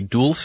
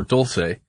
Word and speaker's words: Dulce: now I can't decide if it's truly Dulce as in sweet the Spanish word sweet or Dolce and I've heard both from our listeners and from what I